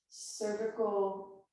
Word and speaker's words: cervical: So now vertical, cervical, rhymes with vertical, cervical spine and lumbar spine are moving in opposite directions for a deeper twist.